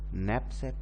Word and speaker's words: knapsack: going to learn about knapsack problem here in knapsack problem one thing in pronunciation of next step k is silent here in next problem